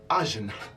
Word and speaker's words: ajna: The Sanskrit word is pronounced ajna.